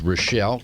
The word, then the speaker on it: Rochelle: Her name is Rochelle. Kind of rhymes with Michelle, but Rochelle.